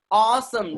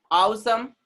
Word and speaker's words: awesome: Do we say awesome? No, we say awesome. Sound will be what? A is coming with W, sound will be O. W is coming with A, sound will be O. Was.